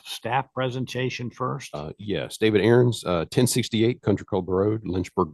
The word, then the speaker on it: Aarons: Next item on the agenda is David Aarons. I pronounced that right? Yes, David Aarons.